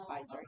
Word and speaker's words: Pfizer: For not Yep, long it starts with a ago, P, but it's Pfizer. Yeah. Yeah, I used to something about like do like a Pfizer game. There you go. Yep, they approved Pfizer.